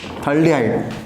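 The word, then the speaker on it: phthalaldehyde: थाल्डिहाइड okay एटा आइसोथाल्डिहाइड PH है PH silent रहे थाल्डिहाइड एटा सेमती टरथाल्डिहाइड है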